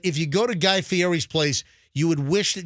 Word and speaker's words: Fieri: You got to Guy say Fieri.